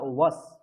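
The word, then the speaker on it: বস্: হ্যাঁ, ওটা বস নয়, কেউ বস বলবে না, ওয়াস। সংস্কৃতে ওয়াই এর উচ্চারণ হয় ওয়া, উ এবং অ, ওয়া, তাহলে ওয়াস।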